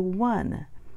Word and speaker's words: one: slang and people talking in different ways the pronunciation changed to one we have the one son the was sound